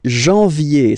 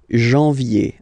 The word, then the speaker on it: janvier: no wow no but in a way anyway janvier so that's the way to pronounce it janvier uh oh ok and then yay yay yay